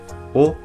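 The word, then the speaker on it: を: ver es la partícula o esta partícula aunque se lee o se escribe con el hiragana de W pasa al igual que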